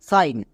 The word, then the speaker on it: sing: এবং IGN এটা হচ্ছে ওয়ার্ড প্যাটার্ন, এক্ষুনি শিখেছি আইন, তাহলে দন্তস প্লাস আইন, সাইন। পুরো শব্দটির উচ্চারণ হচ্ছে সাইন, কিন্তু আমাদের সমস্যা এখানে হয় না, আমাদের সমস্যা হয় এখানে।